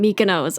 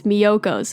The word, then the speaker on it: Miyoko's: Oh my God, I always call it Mykonos. Oh my God, it's Miyoko's. It's Miyoko's.